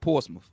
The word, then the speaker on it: Portsmouth: Or Portsmouth, where I'm from, it's spelled Portsmouth. But we pronounce it. Yeah, we pronounce it Portsmouth.